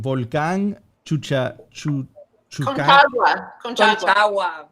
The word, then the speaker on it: Conchagua: I am gonna have a very hard time pronouncing Volcán Chuca. Concagua. Conchagua. Conchagua.